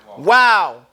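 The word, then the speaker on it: واو: we are on what Wow and it's pronounced like the English word Wow it's the jab and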